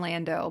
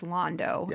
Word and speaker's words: Londo: i know especially um i want to call him lando but it's londo even though it's spelled the same way yeah um it's i